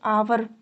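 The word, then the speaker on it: hour: जैसे कि आवर, एच क्या है, साइलेंट है, इसलिए आर्टिकल एन का यूज़ किया गया है।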